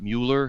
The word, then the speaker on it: Mueller: at Mueller indicted we by the way we pronounce it Mueller here in in the Euler yes see it